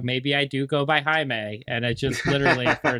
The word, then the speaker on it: Jaime: Did you ever have one of those Spanish names, Jamie, when you were taking maybe a Spanish class? Well, it is Jaime. It is. I was going to say, yeah. Yeah. It's spelled the same way, too. So it's not, yeah. That's, yeah, that was, and there were people that called me Jaime, but just because that's how it was spelled.